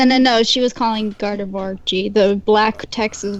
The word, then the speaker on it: Gardevoir: of guard of war Gardevoir Worley like who are ya like the the word noir but with a V it mm it sounds